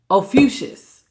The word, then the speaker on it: Ophiuchus: Ophiuchus.